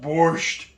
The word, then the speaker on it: borscht: And you gotta say it like that, like it's coming back up. Borscht.